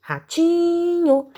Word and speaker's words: ratinho: Em qual sílaba eu fiquei mais tempo cantando? Ah, muito bem, no ti, ratinho. Então, a sílaba tônica dessa palavra, ou seja, a sílaba mais forte dessa palavra, é o ti.